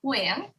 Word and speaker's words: Nguyen: So my last name in Vietnamese with the diacritics is Nguyen. And however, in English, the English language does not have diacritics. So the sounds that exist in Vietnamese just literally don't exist in English.